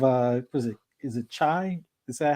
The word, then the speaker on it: Chai: when you have uh was it is it chai is that how you say it yeah yeah chai uh have him in a Killer Instinct with